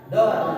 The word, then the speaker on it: door: Kalau door walaupun o-nya dua tapi dibacanya door, bukan dur ya.